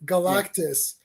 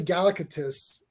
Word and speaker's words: Galactus: I used to say Galactus. Oh yeah. Oh yeah. Yeah, I would say Galactus, and then they said it in the cartoon. I was like, oh shit, I've been saying it wrong the whole time.